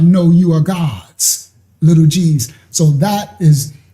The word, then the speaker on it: Gad: So the tribe of Gad is actually the tribe of God. That's how it's pronounced.